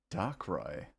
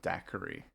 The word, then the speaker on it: Darkrai: Hear the pronunciation, but... Darkrai? Darkrai. So I was closer with Daiquiri.